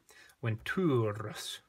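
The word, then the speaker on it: venturus: Ventures. Got a long U there.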